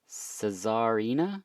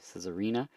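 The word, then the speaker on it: Czarina: a little different is I think it's pronounced cesarina Cesar CZ a r i n a cesarina the album's called Arcana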